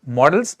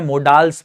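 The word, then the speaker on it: modals: Grammar का एक topic, मॉडल्स। इसको बहुत सारे लोग गलत प्रोनाउंस करते हैं, मोडाल्स बोलते हैं, जो कि गलत प्रोनाउंसिएशन इसका होता है। करेक्ट प्रोनाउंसिएशन है मॉडल्स, ठीक है, ये ध्यान रखिएगा आप लोग।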